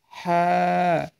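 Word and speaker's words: حاء: এই হরফটি উচ্চারণ হবে আপনার গলার মাঝ বরাবর। দেখবেন ছেলেদের একটা উচ্চা জায়গা রয়েছে গলার, তার নিচে, তার ধরেন আরও 2 আঙ্গুল নিচ থেকে আপনি এই হা হরফটি উচ্চারণ করবেন, তাহলে আপনি শুদ্ধভাবে উচ্চারণ করতে পারবেন।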